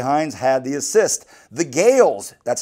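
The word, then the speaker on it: Gaels: The Gales, that's spelled G-A-E-L-S, tied it up in the 80th minute.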